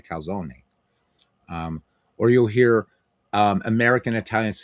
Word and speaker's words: calzone: So people say I want a calzone, but it's actually a calzone.